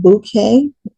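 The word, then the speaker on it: bokeh: it is called gold is it bouquet b o k e H is how you spell it it is a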